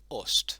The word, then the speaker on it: ost: The letter O is always going to be pronounced as O. For example, you have the word ost, which is for cat. O-S-T. Ost. It will never be pronounced anything differently. That is always an O for ost.